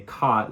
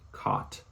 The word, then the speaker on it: caught: And it kind of makes sense, because, the way we say caught, like I'm not gonna, if I'm talking on the, like, if I'm saying it to you right now, caught, it feels unnatural to say it like that. Whereas if I'm like, oh, I caught a fish, it sounds like I'm saying C-O-T, caught, like the thing you sleep